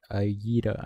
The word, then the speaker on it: Ayida: What's your name? Ayala? Ayara? How do you say her name? You say Ayira. I mean, my bad. It's Ayira.